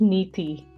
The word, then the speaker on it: Niti: like to tell you my name is Niti Niti yes I'm so sorry I mispronounced it Niti no worries we'll edit